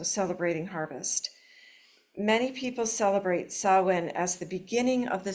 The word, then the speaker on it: Samhain: It's spelled Samhain, so if you hear somebody saying Samhain, you know they don't practice Samhain. Who would know? It's a weird spelling, Samhain.